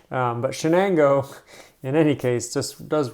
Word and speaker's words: Shenango: know greater Shenango area not to be confused with chiango this is Shenango um a great name